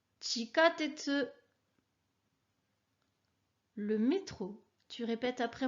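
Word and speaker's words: 地下鉄: Le mot suivant est chikatetsu. Chikatetsu, le métro.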